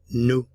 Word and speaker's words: nous: we new we new we knew remember that final consonants are generally not pronounced in French we speak we speak